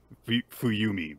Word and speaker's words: Fumi: to meet my wife fuumi by the way not fuuki I was getting her name wrong uh uh and so